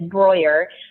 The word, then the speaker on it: Breuer: And if you want to be correct about it, it's Breuer, which rhymes with lawyer. So that's what I tell people to kind of put it like Breuer rhymes with lawyer.